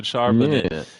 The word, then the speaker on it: Charbonnet: got to talk about I can't even pronounce his fucking name. Zach's running back, Charbonnet. Charbonnet. There you go, Charbonnet.